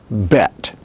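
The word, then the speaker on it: בֵּית: With a dogish, then, it is pronounced as a hard B, bet, which makes it like the Greek beta.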